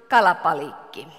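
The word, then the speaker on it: kalabaliikki: And in Finnish, we pronounce it kalapalikki. So it sounds very much the same thing.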